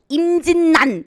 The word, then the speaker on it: 임진란: 요것도 이제 임진란 같은 경우도 임진난 이렇게 발음이 돼야 되고 그 다음에 2번 하는